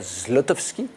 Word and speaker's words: Zlotowski: D'abord parce que, ben oui, vous venez pour un film qui sort mercredi, qui s'appelle Grand Central, de Rebecca Zlotowski. L'ai-je bien prononcé cette fois-ci?